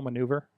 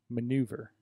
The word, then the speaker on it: maneuver: Do I need to spell maneuver? Because it trips me up a little bit. Maneuver. Maneuver. It sounds like manure when you say it like don't, that.